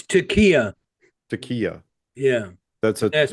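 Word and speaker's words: taqiyya: it's Takia. Takia. Yeah. That's a Asked me that's to a spell it, but that's the Takia.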